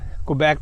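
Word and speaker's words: Quebec: सकता है, लेकिन वो क्वेबेक में प्रैक्टिस नहीं कर सकता, क्योंकि वहाँ के लॉज जो है क्वेबेक, जो हमारे पाकिस्तानी इसको क्यूबक कहते हैं, मेरे हिसाब से सही प्रोनाउंसिएशन क्वेबेक है।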